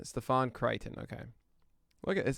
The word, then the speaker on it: Stefan: right so diamondbacks joakim joaquim soria okay and steven crichton uh stefan stefan crichton okay look at this it's amazing every single team pronunciation guide it's pretty awesome um why did